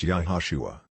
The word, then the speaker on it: Iesus: that Jesus name is spelled Iesus and pronounced yahushua so why then does